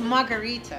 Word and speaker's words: margherita: The Margarita.